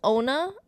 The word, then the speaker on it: Onah: This film was directed by Julius Onah, I believe is the pronunciation of the last name.